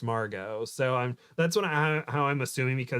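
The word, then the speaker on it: Margaux: acquaintance from high school who her name is Margo but it's spelled m-a-r-g-a-u-e-x but it's pronounced Margo so I'm that's what I how I'm assuming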